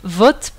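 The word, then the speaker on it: Vata: Et beaucoup de personnes prononcent, en Inde, beaucoup de personnes prononcent les noms des doshs comme vot, pit et kop. Ils enlèvent la dernière voyelle.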